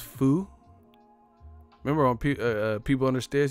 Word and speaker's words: pho: It's pronounced foo.